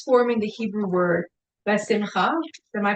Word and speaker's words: besimcha: The letters forming the Hebrew word besimcha, am I pronouncing this okay?